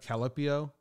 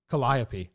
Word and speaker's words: Calliope: Calipio? I can't pronounce this word.